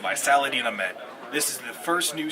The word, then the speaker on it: Ahmed: sure it's not Ahmad? Whichever one. It's spelled the same as yours, right? No, different. Oh. I have A. He's has A. Oh, it's Ahmed. So, Saladin Just say Ahmed.